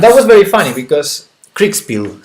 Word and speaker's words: Kriegspiel: Kriegspiel. Krach? It's Krieg. It's I-E, not E-I.